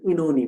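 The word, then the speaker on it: Oenone: এবার আমাদের এনান কবিতাটা, এটাকে অনেকে ইনোনি বলে, ইনোনি হচ্ছে বাংলা উচ্চারণ, ইংলিশ উচ্চারণটা এনান বলা যায়, এনান।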